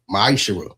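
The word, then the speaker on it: מעשר: You find this in the book of numbers 18 21 the book of Malachi 3 8-10 means 10th in Hebrew and it's pronounced misher 10% of every penny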